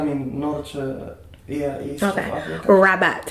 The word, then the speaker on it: Rabat: North East I mean North yeah East Africa rabot how do you say that's am I saying it right rabot is uhhuh now is that tell me about